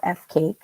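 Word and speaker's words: FCAIC: and impact coordinator or f cake pronounced like cake and yes that means that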